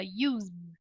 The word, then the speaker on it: used: gente não fala us a gente não fala né a gente fala Used então o último som É de fato o som é esse som aqui então na no